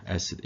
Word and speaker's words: acid: 우리가 acid라고 하면 이건 산이죠. acid. 이름절의 강세 있어요.